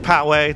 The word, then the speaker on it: Poway: It's pronounced Poway, not Poway, not Poway, and locals know instantly when someone's new based on how they say it.